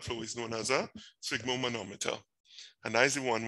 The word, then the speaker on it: sphygmomanometer: So it's like a fig with a S sound. So you say sphygmomanometer, right? Let me hear you say it. Sphygmomanometer.